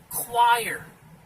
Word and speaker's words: choir: This one right here, this word chore, this word is choir. This combination of letters is somehow pronounced choir.